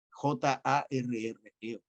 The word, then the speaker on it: Jarre: película, un compositor de cine francés, Maurice Jarre, Jarre, como se pronuncia, muy bueno, Maurice Jarre.